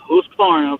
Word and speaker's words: Husqvarna: Actually, the correct pronunciation is Husqvarna because Husk means house, Varna means river, house on the river.